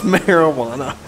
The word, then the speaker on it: marijuana: drug yeah marijuana it's marijuana the J is silent 43 dispatch for the